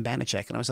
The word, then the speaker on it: Banachek: And I loved the name Banachek. And I was like, you know what? If I use Banachek the way it's spelt there, they're going to say Banachek.